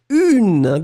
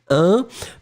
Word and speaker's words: une: Be careful, Hilary, because you've been writing un, but in fact, I've been really pronouncing the feminine form une. D'accord? Une tarte. Kangli, be careful, it was not un tarte, but it's really une tarte.